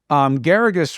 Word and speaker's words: Geragos: Geragos rhymes with asparagus was the first lawyer